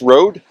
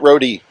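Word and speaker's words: Røde: Are you sure it's Rode? Rode. Not Roadie.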